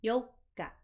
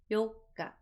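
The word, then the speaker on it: Yokka: Same thing with the fourth. Notice it's a little smaller. Yoka. Yoka.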